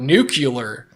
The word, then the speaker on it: nuclear: i get that but nuclear there's no it's n-u-c-u-l-e-r it's not how it's spelled it doesn't even work you want to send